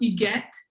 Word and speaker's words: Huguette: It's pronounced Huguette, like Yvette, but Huguette.